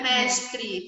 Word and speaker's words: mestre: Mas é mestre, viu? Escreve E e pronuncia I, mestre.